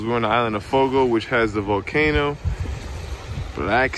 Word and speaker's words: Fogo: Fogo.